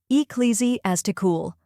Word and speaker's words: ecclesiastical: word often used in religious and historical contexts ecclesiastical it might seem long and complicated but by the end of this video you'll pronounce it with confidence the correct pronunciation is eesy as tool let's break it down first we have e